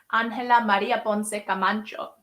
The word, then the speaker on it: Ángela María Ponce Camacho: What is your view on Miss Spain, Ángela María Ponce Camacho? That's how you pronounce it, everyone.